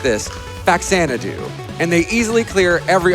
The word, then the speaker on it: Faxanadu: The best NES games are Crystallis and I say it like this, Faxanadu.